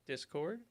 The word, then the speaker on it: Discord: ten i don't know it's dis chord this is the stress is on the first syllable discord yeah is that right